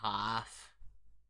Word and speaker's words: half: so we just say half you don't what are you talking about you don't have to pronounce the L and half it's like